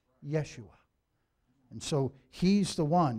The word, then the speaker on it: Yeshua: be afraid you know the Hebrew word for salvation is Yeshua meaning safety deliverance salvation and that's exactly how you pronounce in Jesus in Hebrew Yeshua and so he's the